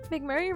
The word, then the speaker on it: McMurray: sir or a woman McMurray rhymes with McFlurries you know McFlurry sounds